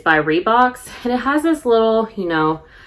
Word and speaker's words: Reebok: made me realize that I have pronounced the name of this company incorrectly my entire life. Like, if you had asked me 2 months ago if it were Reebok or Reeboks, I would have said Reeboks.